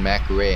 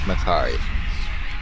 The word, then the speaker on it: Mac'Aree: The defense of Makari. It is no longer called Macaray in my book. It is Makari. Thanks, Blizzard, for adding a voiceover into this game. Now I know how to pronounce this place.